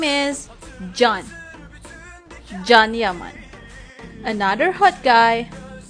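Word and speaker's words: Can: May some of you guys calling this hot guy's name Chan, Ken, or whatever. But how to pronounce his name is John.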